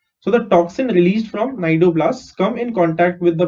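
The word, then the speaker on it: cnidoblasts: सो इट has tentacles which with syndoblasts, sorry, not syndoblasts, nidoblasts. Okay, C is silent over here, right?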